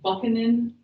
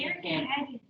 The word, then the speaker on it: Buchanan: It's spelled like Buchanan. There's a CH in there. Buchanan. Okay, but it's Buchanan.